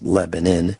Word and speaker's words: Lebanon: So at this facility, which was in Lebanon, Missouri, spelled Lebanon, pronounced Lebanon, the same location where we had our Get Prepared Expo 3 times, 46,000 square foot facility.